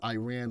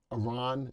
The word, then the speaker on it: Iran: So everybody says it's not Iran, it's Iran. Listen, it's the way it looks. I call it as I see it. But if the proper pronunciation is Iran, I'll call it Iran.